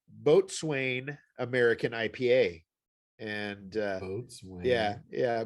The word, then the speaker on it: Boatswain: It tells you how to pronounce it on the can, thankfully. It says, I think that's a Botzen.